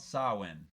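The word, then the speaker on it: Samhain: you're about to celebrate something called sawin which is spelled Sam ha all right Sinn is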